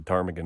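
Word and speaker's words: ptarmigan: in but I appreciate a bird with a silent p so a little while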